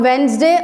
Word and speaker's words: Wednesday: Number 3, the alphabet D and second E are silent in Wednesday.